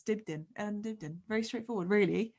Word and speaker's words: Dibdin: It's my surname that trips people up, because obviously it's spelled Dibdin, so it's Dibdin.